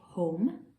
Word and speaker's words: home: Okay, so say home. Home. Good. Let's see how many sounds it's got. Ready? O, m. So it's got 3 sounds, but we know it's got a silent letter on the end.